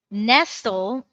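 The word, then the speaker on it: Nestlé: Is that Nestle? Nestle. What was that one? Nestle. N S T L E. Am I pronouncing that correctly? Yeah, that's Nestle.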